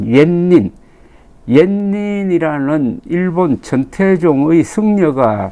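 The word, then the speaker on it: 円仁: 그 계기가 된게이 분이 일본의 원인 일본 발음으로 옌닌 옛닌이라는 일본 전태종의 승려가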